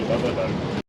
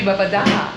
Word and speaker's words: Babadağ: pronounce Babadağ wrong, because I think that it has the thing on the G, doesn't that mean that the G is silent and the letter in front of that is kind of stretched?